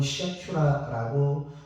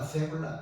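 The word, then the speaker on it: סגולה: 히브리어로 세굴라입니다. 어떤 분은 시아큐라라고 발음하시기도 하는데요. 시아큐라, 세굴라 중요한 게 아니고요.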